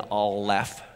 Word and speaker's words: Aleph: letter Aleph but you hear the L in all left and that's the F so here's how you